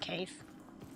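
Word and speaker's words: Kaithe: I'm sure that's supposed to be pronounced Kaith.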